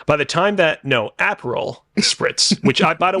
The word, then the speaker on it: Aperol: way for the record I mispronounces an apple Spritz because I thought it was apple flavored it's not it's like a delicious drink flavored spelled a-p-e-r-o-l it's very good very